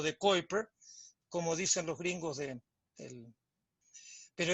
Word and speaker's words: Kuiper: lo que se llama el anillo de coiper le dicen en inglés se escribe kuiper y pr y quiera